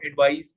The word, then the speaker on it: advise: का और इसी तरह एडवाइस में य will be pronounce it just like surprise आप प्रोनाउंस करते हैं इसी तरह एडवाइस अब यह जो दोनों अल्फाज